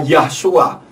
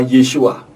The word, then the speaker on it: Yeshua: Dan Yod, Sin, Waw, Ayin tidak pernah bisa dibaca Yahshua. Membacanya adalah Yeshua. Nah, kita sudah mengenal nama Bapa Yahweh, mengenal Yeshua HaMashiach.